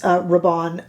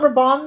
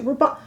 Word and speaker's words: Rabanne: It's not Rabanne, they said.